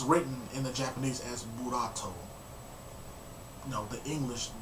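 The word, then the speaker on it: Boruto: in the Japanese as buat you know the English the Japanese pronunciation of the English word bolt you know what I'm saying buat which is you know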